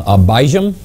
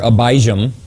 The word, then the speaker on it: Abijam: Now it's interesting here, Abijam, the name means my father is Yam. The pronunciation might be closer to Abayam.